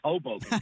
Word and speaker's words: Hoboken: It's Hoboken, New Jersey.